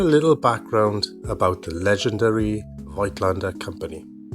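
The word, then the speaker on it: Voigtländer: Vitlander, or more like Flander in its original German, was a company founded in Vienna by Johan Kristoff Folklander in 1756.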